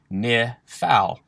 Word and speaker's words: Niphal: so let's get started the pronunciation key for the nifal is exactly as it sounds ni phal however to put it